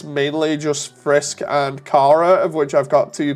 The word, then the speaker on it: Chara: Found out from my friend who likes Undertale, Kara is apparently pronounced Kara, like charcoal.